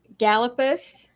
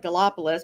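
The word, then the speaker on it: Gallipolis: I'm at in uh gallopus uh Ohio I always want to call it gallopolis because that's the way it's spelled they correct you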